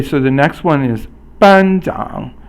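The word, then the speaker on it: 班长: Okay, so the next one is 班长. 班长 is first tone, which is a flat tone that's high, and then the third tone, which is a falling and a rising tone.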